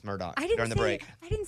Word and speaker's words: Murdaugh: Well, and so it is spelled Murdaugh, but Amy told me, hey, idiot, it's Murdoch during the break.